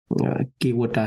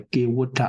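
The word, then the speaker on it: Kevaṭṭa: It is used the Kīvota Sutta. Other than T, they use the D. So Kīvota, it should be pronounced.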